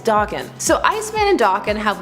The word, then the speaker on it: Daken: And I'm ready for everybody to yell about how you say his name, even though at a con they said it was Daken.